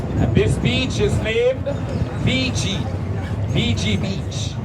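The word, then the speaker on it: Vigie: And this beach is named VG. VG Beach. It's spelled V as in Victoria.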